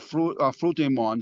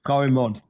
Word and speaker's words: Frau im Mond: the 20s directed a science fiction film called Fruit du Monde, The Woman on the Moon. Yes, Frau im Mond.